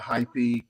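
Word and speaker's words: Heipi: probably pronounce it wrong High p h e i p i and that that is correct actually I I have a hypey uh travel tripod on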